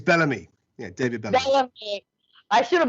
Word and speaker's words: Bellamy: last name right david is it balami or bellamy it's bellamy yeah david i should